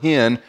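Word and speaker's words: חן: The Old Testament word for grace is K-H-E-N, and I've been told you pronounce it this way, that you say the word hen while clearing your throat.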